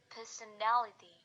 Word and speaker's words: personality: For example, person plus ality atau suffixnya menjadi personality. Jadi ini stresnya pindah dari p to n. Jadi personality. Lalu yang kedua, the stress remains on the stem and on the same syllable.